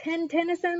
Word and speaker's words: Tennyson: And did they just say his name is Tennyson, like the number 10?